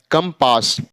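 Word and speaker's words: compass: pronounce होगा क होगा तो क्या हो जाएगा कंपास तो सी का प्रोनाउंस क कब करेंगे जब सी के बाद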